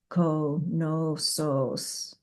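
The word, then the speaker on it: Knossos: Greek women form the most beautiful mouths when speaking, and she pronounced konosos like this, konosos, her voice again translucent as goddess-like October, and now my breath smells like sweetgrass burning in the evening.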